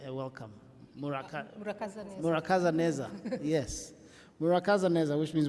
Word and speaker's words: Murakaza neza: Murakaza Neza, yes.